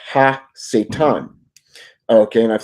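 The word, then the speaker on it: הַשָּׂטָן: But if you actually go into the Hebrew attributes of him, his name is pronounced Ha-Satan.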